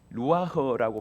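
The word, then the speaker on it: רוח: 설 설명하고 있습니다 아이 하나님의 영 루아흐고 발음합니다 예 히브리어인 이거는 하나님의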